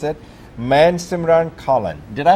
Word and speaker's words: Mansimran Kahlon: Today, our guest is, let me pronounce it correctly, and he will pronounce it, Mansimran Kahlon. Did I pronounce it correctly? Yes, you got it. Mansimran Kahlon, yes.